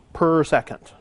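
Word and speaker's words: s⁻¹: so yeah yeah yeah per second right so you call that s minus1 okay that's pronounced per second um the unit of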